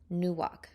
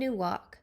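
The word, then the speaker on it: נוּחַ: The other main Hebrew word used for rest, used in the Hebrew scriptures, is nuach. That's spelled Nuakh.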